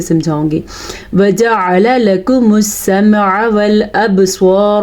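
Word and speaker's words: والأبصار: والابصار, با پہ کلکلا ہو رہا ہے کیونکہ با حروف کلکلا میں شامل ہے. قاف, طا, با, جیم, دال, یہ وہ 5 حروف ہیں کہ جب ان کے اوپر جزم آ جائے تو یہاں پہ کلکلا ہوتا ہے.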